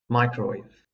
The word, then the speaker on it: microwave: They should be pronounced as pilot and microwave.